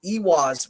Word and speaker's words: Eihwaz: i sound and then with ewas we see it singularly as a double e sound or utilized in the